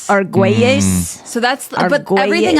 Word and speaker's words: Argüelles: Like ARGUELLES is Argüelles. Argüelles.